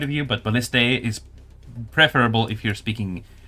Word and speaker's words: ballista: It's technically more correct to say balliste like ballista ballista. Uh but you can say ballistas if you prefer as well. This is more correct from English point of view.